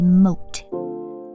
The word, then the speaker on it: moat: The stream of water around the castle is called a moat, as in starts with an M but rhymes with boat.